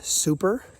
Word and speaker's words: Supercalifragilisticexpialidocious: Supercalifragilisticexpialidocious. Supercalifragilisticexpialidocious. Supercalifragilisticexpialidocious. Supercalifragilisticexpialidocious. So the beginning part is super, then it's califragilisticexpialidocious. So that's how I kind of break it up into small little 2-syllable parts of words, right?